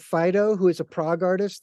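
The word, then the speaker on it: Phideaux: really come from me there's an artist called Fido who is a Prague artist that I work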